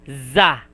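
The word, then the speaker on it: ざ: But if you use 1010, it will be za, Da. za. And this one, if it has no 1010, it is pronounced as she.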